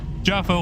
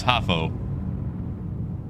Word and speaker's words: Jaffo: Is it Jaffo? Like, is the J more like Spanish pronouncing? Make sure I'm getting it right. It's where I get told, like, no, it's Hafo. Thank you. Well, just get on the website every day. J not silent. All right, Jaffo then.